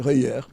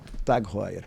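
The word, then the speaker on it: TAG Heuer: Na França, realmente, eles chamam de Heuer, mas no resto do mundo inteiro, TOG Heuer.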